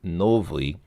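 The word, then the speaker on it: новый: So here, for example, in the word novy, the ending is not stressed. The stress is on the first syllable, so novy bar.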